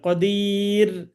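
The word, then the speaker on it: قدير: সাথে মিলিয়ে পড়তে হবে আর এখানে থেমে গেলে র এর উপর দুইটা পেশ দুইটা বাদ হয়ে যাবে উচ্চারণ হবে কদির আর যদি আপনি মিলাইতে চান তাহলে পড়তে হবে কদিরুনিল্লা কদিরুলা আচ্ছা আমি আপনাদের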